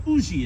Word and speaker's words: Huger: of a Miss u a Benjamin Huger or Uzi is the way they pronounce it there in South Carolina a true and ENT